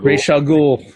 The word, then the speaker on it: Ra's al Ghul: Ra's al Ghul.